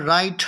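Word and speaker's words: write: यहाँ पर राइट, राइट का डब्ल्यू जो है वो साइलेंट है, इसको हम राइट पर बोलते हैं।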